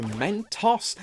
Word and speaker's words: Mentos: I did but the most I learned is that Mentos is actually pronounced Mentos according to its website and while the American